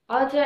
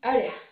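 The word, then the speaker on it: outta: Outa itu diambil dari out of yang artinya keluar. Jadi kita bacanya bukan outa, tapi ada.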